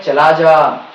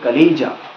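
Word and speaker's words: chalaza: जो ये हिस्सा है, इसको हम लोग कहते हैं चलाजा, ठीक है। गूगल प्रोनाउंसिएशन में कहा जाता है इसको कलीजा, ठीक है, कलेजा। बट हम लोग Indian English, we speak Indian English, इसलिए चलाजा। कहाँ जाना है पता नहीं, चला जाना, ठीक है।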